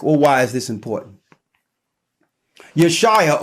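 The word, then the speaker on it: Yeshua: why is this important yo Shia or whom some say his name is Jesus even though there was no J's back then but for the sake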